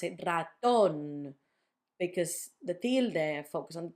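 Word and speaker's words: ratón: So the first one is on the last syllable, raton, not raton, raton, raton.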